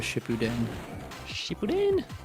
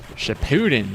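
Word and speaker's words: Shippuden: right now he's binging Naruto Shipuen Shipen. Cartoon Network did that show no favors by pronouncing it wrong. Catch a new episode of Naruto shitin. Naruto Shepudin.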